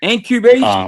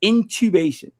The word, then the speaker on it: intubation: "Man, I keep saying it wrong too. It's intubation. All right, I said it wrong a couple of live streams ago. I was saying, I'm basically repeating what he was saying, but it's intubation.